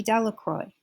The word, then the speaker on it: Delacroix: harry jones and dicky delacroix the villagers pronounced this name de la croix eventually made a great